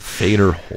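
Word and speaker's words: Fedor: Licensing professional poker player fader holes has invested in team NV and the Dallas fuel theater pronounced Vader he's won nearly 27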